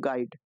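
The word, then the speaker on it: guide: बताना है ठीक है तो गाइड इसको इस प्रकार से लिखते हैं गाइड ठीक है यहां पे आपको यू आई डी जी तो यहां पर आपको जो है यू जो होगा यह साइलेंट के रूप में मिलेगा 16 नंबर में दिया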